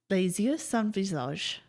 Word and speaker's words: Les yeux sans visage: Les yeux sans visage.